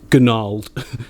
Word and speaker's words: gnarled: so good this is gnarled mantanissa wood gnarled silent g it just looks so